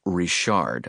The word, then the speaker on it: Richards: He pronounces it Rishard. I guess the S is silent.